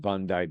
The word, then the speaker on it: Bondi: you this video of the B it's it's pronounced Bondai Beach in Australia heavily Jewish it was a